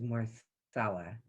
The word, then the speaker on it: Marcella: I believe Marcella or Marcella, I'm not sure which way you pronounce it. You have a question. It is Marcella.